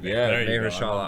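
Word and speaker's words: Mahershala: Maya Ali May Hera Ali you got it mayala Ali incredible actor uh and and I think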